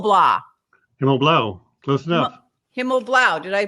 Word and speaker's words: Himmelblau: guest Bruce himl blah himl Blau close enough himl Blau did I pronounce that right yep good morning good morning